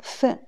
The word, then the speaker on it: 分: Deuxième prononciation, c'est quatrième ton, fen.